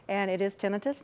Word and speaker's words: tinnitus: one questions I get is how is it's pronounced and it is tinnitus not tinnitus that is the uh most people want to